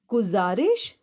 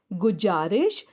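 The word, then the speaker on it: गुज़ारिश: उदाहरण के तौर पर देखिए, गुजारिश, गजल। हमारी वर्णमाला में ज है, ज का उच्चारण हम कर सकते हैं, जैसे गुजारिश, गजल, लेकिन यहाँ पर ये सही उच्चारण नहीं हो पा रहा है।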